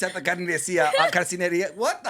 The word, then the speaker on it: carnicería: It's at the carnicería.